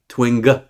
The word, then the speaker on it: Twing: Twing. Hard G.